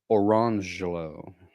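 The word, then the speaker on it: Orangejello: jello and orange jello, but they were not pronounced lemon jello and orange jello. It was lemangelo and orangelo.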